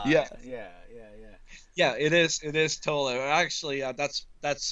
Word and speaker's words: Thola: I almost pronounced the name with the T being silent and called your name Ola on the air. I almost did that. Here's a new Yeah. band, Ola. Yeah, But it's Tola.